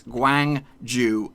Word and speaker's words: Gwangju: and finally we have Gwangju FC now it looks pretty simple it is pretty simple it's Gwang Joo FC and just in case